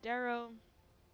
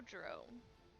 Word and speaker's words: Drow: There are a few Darrow. No Drow. Obviously.